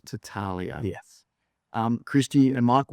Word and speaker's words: Battaglia: I always pronounce it Battaglia but I've just been told the G is silent. Battaglia.